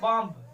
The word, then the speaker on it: bomb: अगर किसी वर्ड में बी यम के बाद आता है तो वहां बी साइलेंट होता है, क्या होता है, बी साइलेंट होता है। जैसे देख लो फॉर एग्जाम्पल बॉम्ब, BOMB, ठीक है, तो